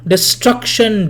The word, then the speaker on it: destruction: Destruction, dwell in, doubtful, joy. It's not alliteration, because destruction, in the word destruction, the stress falls on the second syllable, not on des.